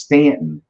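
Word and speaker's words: Staunton: this our town was mispronounced so it's it's pronounced Stanton yeah but it's spelled stun yeah back in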